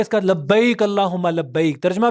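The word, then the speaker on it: لبيك: अल्लाह हु्मा लबक ऐ अल्लाह मैं हाजिर हूं लब्बक लबक ऐ अल्लाह मैं आ चुका मैं आ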